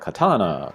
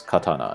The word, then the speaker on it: katana: Maybe some people would say like katana, but it's katana, it's pretty flat. If anything, it kind of drops off at the end.